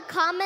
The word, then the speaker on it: Kamala: you you pronounce it first you say comma like a comma in a sentence then you say la like la la la la la put it together and it's one two three comma all right so let